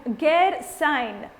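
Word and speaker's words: Gairsain: minus 1 to you the answer i was looking for is gear sign okay it's spelled g-a-i-r-s-a-i-n it was uh it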